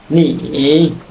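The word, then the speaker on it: 你: ওয়া মানে হচ্ছে এখানে উচ্চারণ, এই চাইনিজটা যারা উচ্চারণ করতে পারবে না তাদের জন্য এখানে উচ্চারণ রয়েছে ওয়া।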